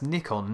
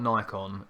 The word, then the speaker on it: Nikon: That's Nikon, not Nikon. Nikon is the right way to say it. Go and speak to the Japanese, honestly.